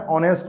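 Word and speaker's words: honest: यहाँ पर है हॉनेस्ट मैन, पढ़ते हैं इसको नहीं, इसको पढ़ते हैं ऑनेस्ट मैन। ठीक, लिखा हुआ है एच लेकिन पढ़ेंगे क्या, ऑनेस्ट। हॉनेस्ट नहीं पढ़ते हैं, ऑनेस्ट पढ़ते हैं।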